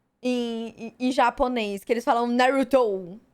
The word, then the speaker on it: Naruto: Que eles falam Naruto. Naruto. Nossa. Não dá, véi. Cara, eu sei que é difícil pra você pronunciar o R como Naruto.